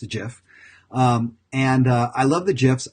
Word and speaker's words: GIF: I love gifs again gif is pronounced with the J not a G it's not a gift it's a jiff and I love the